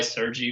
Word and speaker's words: Sergey: I go by Sergey, but Sergey is the Russian way to say it.